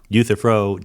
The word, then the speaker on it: Euthyphro: I'm on board with the I can never pronounce it Euthyphro oh you Thoreau yea Euthyphro dilemma and why there should be some of